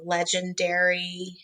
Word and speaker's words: Legendairy: For breastfeeding, I love Legendairy. Dairy, like it's spelled like a dairy, like a cow dairy.